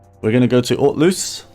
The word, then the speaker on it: Hauteluce: going to go to alt loose so I think the H is silent I did um I